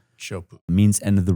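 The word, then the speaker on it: Teahupoʻo: It's spelled Tiahuapoa, but it's pronounced Chopu. Chopu.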